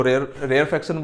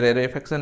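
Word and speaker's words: rarefaction: रेयरफैक्शन बोल लो या रेरेफैक्शन बोल लो, जो तुम लोग का बोलने का बन बोल लो, ठीक है। कुछ इसको रेयरफैक्शन बोलते हैं, इसको कुछ रेरेफैक्शन बोलते हैं रेरेफैक्शन ही एक्यूरेट है, बट हम लोग को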